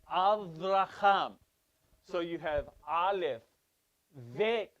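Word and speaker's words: אברהם: It's Shabbat, but it's Avraham. You need to say it with the V.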